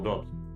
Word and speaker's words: doubt: the usual phrase, no doubt. doubt, Doubt. I was spelling this. It's wrong all the time. That wrong all the time. Okay, doubt. doubt, Okay, no doubt. That's the right way to pronounce.